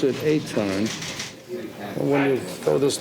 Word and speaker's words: Etan: Well, they pronounce it Etan.